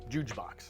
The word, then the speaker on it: Juuj Box: I've always been curious about, like, when I first met you and you mentioned Juuj Box. Yeah. I'm pronouncing it right, Yeah.